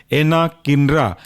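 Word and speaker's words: anakinra: दूसरा सब class biological agent के अंदर वह इंटरल्यूकिन 1 रिसेप्टर एंटागोनिस्ट और इसके अंदर का इकलौता बट लीडिंग एग्जांपल है एनाकिनरा, एना, ANA, किनरा, KINRA, एनाकिनरा।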